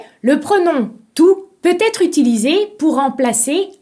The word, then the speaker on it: tout: de manière très différente tout t o u t se prononce tout par exemple j'ai tout compris si le mot tout est situé devant un mot commençant par une voyelle vous pouvez le prononcer toute par exemple il a